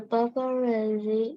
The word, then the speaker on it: paparazzi: The paparazzi is hiding behind the Bush. The bush. The bush. Yes, the paparazzi. Razzi, kalau Z-nya ada dua. Z yang pertama bunyinya kayak T. Sama kayak pengucapan pizza. Paparazzi.